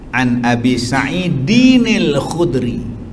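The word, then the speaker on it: عن أبي سعيدٍ الخدري: An Abi Sa'id al-Khudri. Cara baca tu An Abi Sa'id al-Khudri. Kalau sambung An Abi Sa'id, An Abi Sa'idin al-Khudri. Dia ada nun bawah pula.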